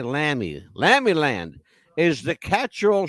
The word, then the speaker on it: Lamy: It's pronounced Lamy. But we say Lamy.